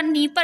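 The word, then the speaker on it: Dnieper: नीपर नदी, ये नाम इसका नीपर है लेकिन डी से शुरू होती है। इसकी स्पेलिंग अगर आपको डी से लिखी हुई दिखेगी ना तभी सही मानना।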